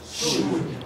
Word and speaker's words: should: Should. It's should. What is silent? L. The L.